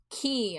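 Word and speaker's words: kei: And then this Drago says, "I love visual K. Is it K? Is it Kai? I don't actually know how to pronounce it. I It's a genre I want to explore more personally." Key. Okay. Visual Key.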